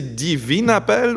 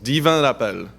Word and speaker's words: Divin Appel: Est-ce que c'est Divine Appel ou est-ce que c'est Divin Appel? Monsieur Plante, tu dirais comment, toi? Divin. Donc, Divin Appel.